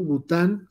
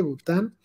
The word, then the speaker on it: Bután: ver a conocer este país bután este con mayúscula y acento en la u bután con t bután sí se puede ahí